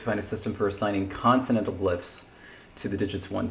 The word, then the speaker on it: consonantal: we have to find a system for assigning consonantal glyphs to the digits one through seven what's that word consonant oh how is that how's it pronounced consonantal we looked it up it's continental according to